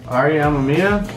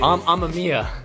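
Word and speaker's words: Amemiya: Ariamameia. Oh, amia. Amia. RIP. I was saying it wrong.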